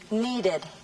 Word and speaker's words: needed: Sin embargo, cuando la última letra del verbo es T o D, como en los verbos want, wait, visit, need, se debe pronunciar ed como última sílaba.